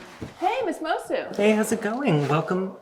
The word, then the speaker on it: Moço: into my drag name moko when did it change to mosu true i started going by the portuguese pronunciation of my last name when i moved to